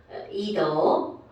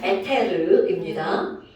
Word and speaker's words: 에테르: 에스터 뭐 아니면 뭐 이더 아 발음 좀 구리죠. 에테르입니다.